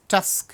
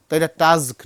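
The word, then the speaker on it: task: double S pass তাই না টি এস কে টাস্ক home টাস্ক আমরা বলি হোম টাস্ক এখানে দেখো খেয়াল করো টি এস কে এস এর এই প্রান্তে ভাওয়েল কিন্তু এখানে কনসোনেন্ট টাস্ক নয় টাসক এফ আর আই ই এন ডি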